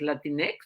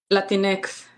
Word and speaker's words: Latinx: cuando tienes la x Qué dices latinex latinex así es como se pronuncia Sí y se pronuncia